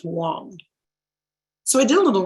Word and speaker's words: Wang: he gave me w-a-n-g he was very specific saying it's pronounced wong so i did a